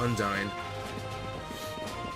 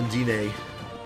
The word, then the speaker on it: Undine: I just had to go talk to Undine, or Undine, which I think is the correct pronunciation.